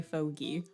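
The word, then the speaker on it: fogey: it right okay it is apparently fogy um it is it is similar to like gezer apparently interesting don't you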